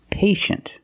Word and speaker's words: patient: With patient, we see T-I-E, making the sh sound. Patient. The first syllable is a long A, like day and pay, pay, and shin. The second syllable is a closed sound. Sh, sh, shin. Patient.